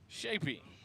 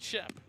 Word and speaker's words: Shapey: Shapey, not Shep.